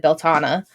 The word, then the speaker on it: Beltane: something like that and then I got a pronunciation from a woman in Ireland and that's where it said beltana and I was like